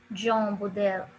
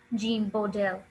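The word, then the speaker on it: Jean Bodel: name is gene go there in french it's pronounced as john bodel john buddell in french it's john bodel in english the british pronunciation is gene bodell he called it wherever these stories had legends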